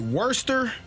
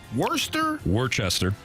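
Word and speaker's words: Worcester: Worester. Worester Worester Worchester I don't think that's how you say it worester yeah worester Massachusetts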